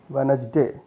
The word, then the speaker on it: Wednesday: D is not pronounced. What is Wednesday, Wednesday, Wednesday, day, D-E-I, Wednesday, Wednesday.